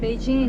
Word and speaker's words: Beijing: p is the way that foreigners used to pronounce the city and Beijing is way local people WS when